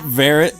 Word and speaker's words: Varrot: What's up, Varrett? Oh, Virat. Is it Varrot? It is. I'm, You have the I'm head- sorry. I'm sorry. It's spelled like carrot.